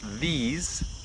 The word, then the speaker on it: these: the first to one thing these which we pronounce these sounds like a Zed nice at the end